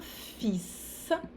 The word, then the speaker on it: fils: Une fille, un fils, um filho. Aqui o S se pronuncia e o L anterior, que não se pronuncia.